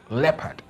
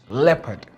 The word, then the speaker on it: leopard: Now, the pronunciation is leopard. Leopard. L-E-H with a hyphen P-U-H-D, leopard, not leopard, right? So if you've been saying leopard, it's time to get some correction now. The word is leopard.